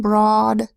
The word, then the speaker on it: broad: but then next word broad spelled be our o a d a makes a long Oh sound oh but in broad it makes a short o sound ah the broad and then of course